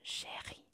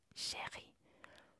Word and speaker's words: chérie: Hay un tilde, el tilde que usamos en español, y cuando está este tilde, la E no la vamos a pronunciar cerrada así, no, la vamos a pronunciar como la E española, una E normal.